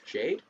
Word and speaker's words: JPDE: is JP de um which actually spells out which actually is pronounced Jade um the title itself